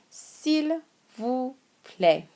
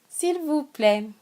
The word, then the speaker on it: s'il vous plaît: S'il vous plaît. S'il vous plaît. S'il vous plaît.